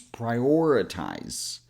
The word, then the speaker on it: prioritize: So putting it all together, it becomes prioritize. To begin with, I want to split this word into 4 syllables to make things easier.